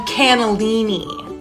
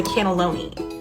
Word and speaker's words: cannelloni: It's called the lamb cannellini. Okay, respectfully, cannellini is a white bean. The pasta dish is called the cannelloni.